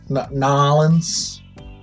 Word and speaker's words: New Orleans: Nolans. That's how they say it down there.